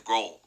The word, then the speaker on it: Grohl: and fighters Nate Mendel I think I said grow last name wrong his Grohl whoopsy my bad sorry